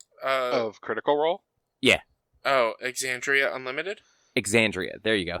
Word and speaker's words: Exandria: Oh, Exandria Unlimited.